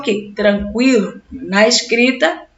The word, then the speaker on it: tranquilo: conhecer linguee we 50 percebem que a pronúncia continua assim mesmo a mudança foi na escrita delinquente eloquente ensanguentado frequente linguiça sequência tranquilo né ninguém vai sair